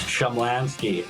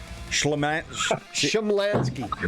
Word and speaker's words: Shumlanski: It's Shumlanski. I thought you know that, but Shumlanski.